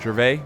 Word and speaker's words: Gervais: Tangerine or it was Gervais. As I'm pretty sure that's a French name, Gervais, so you don't pronounce the S.